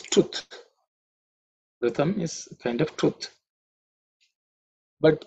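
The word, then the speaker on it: ऋतम्: The next mantra is Ritam Chame. Ritam Chame. Ritam Chame. Pronunciation should be reasonably simple. Just pay attention to the word R. It's not Ru, Rutam, no Ritam. It's Ritam.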